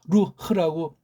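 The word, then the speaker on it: רוּחַ: 아무튼 그래서 우리 아까 설명드렸으니까 앞으로 이거 루흐라고 읽읍시다. 우리끼리니까요.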